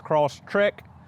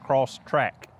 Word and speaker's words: Crosstrek: what it really matters I know it is crossed trick sometimes when I talk it just comes out cross track that's the lazy southern tongue I reckon in how I pronunciate things but again thank you for correcting me in the comments I'm well aware that it is trick not track so working on the